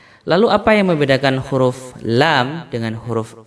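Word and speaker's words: لام: Mungkin secara bacaan tidak terlalu sulit ya huruf lam ini, karena dia mirip dengan huruf L.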